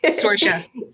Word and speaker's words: Saoirse: Saoirse. It's pronounced, I think, 6 different ways, depending on what part of Ireland you're from.